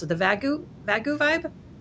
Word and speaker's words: Vagu: Well, it's not an A at the end. It is a U. I think of Wagu. Like wagoo beef, but you know.